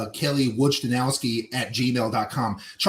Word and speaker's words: Wojciechowski: Can you pronounce that? Wardenowski. What? Wadenowski? Nope. I got the Nope. ski part right. It's Wojciechowski. Wojciechowski.